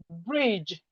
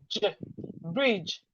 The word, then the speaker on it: bridge: DGE says j. And we have this in word like bridge, brr, bridge, brr, bridge.